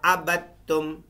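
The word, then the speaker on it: عَبَدتُّمْ: वाला आना आबिदुम मा अबद्तुम। इस बा को, दाल को साइलेंट कर देंगे बीच में।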